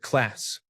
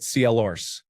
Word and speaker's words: class: I pronounced it class, and they pronounced it CLRs. Annoyed by their constant chatting, I turned around and said, "There is no fucking R in class."